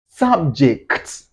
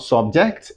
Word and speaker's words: subject: Subject. Not subject. No, not subject. It's subject. Subject. You have to stress the first syllable.